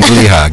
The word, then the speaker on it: Gliha: Gleha, did I pronounce it right? نعم, Gleha.